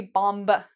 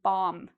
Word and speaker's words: bomb: If you have an M, you do not pronounce the B. So we don't say bomb. No, we say bomb.